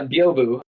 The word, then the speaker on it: Byobu: Is that how you pronounce it? Yeah, Byobu.